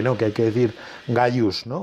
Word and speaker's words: Gaius: que dicen que no, que hay que decir Gaius, ¿no?